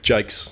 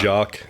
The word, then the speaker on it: Jacques: There's a few different pronunciations. Jacques, generally. Jacques. Yeah, or Alright. Jacques, some people say. Jacques. Yeah. Jacques. I feel you can probably just take your pick.